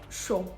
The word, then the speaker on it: chaud: For example, PH is going to have the F sound like phénomène, and CH is going to have the sound sh like chaud.